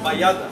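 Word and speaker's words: Bajada: Bayada. The J is a Y.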